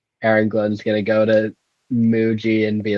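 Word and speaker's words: Mougey: Jets they have a new GM named Darren Mogi um I think it is actually pronounced Muji oh my bad my bad yeah so what's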